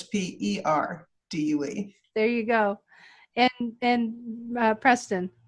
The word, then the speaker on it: Perdue: But Purdue is spelled like chickens and not like the university, so it's Perdue.